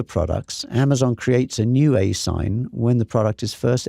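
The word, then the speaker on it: ASIN: required but notice this the as n generally pronounced asign this is the Amazon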